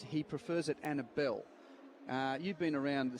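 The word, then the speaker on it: Annable: Uh it it's spelled Annabel, but I believe and it's he prefers it Annabel.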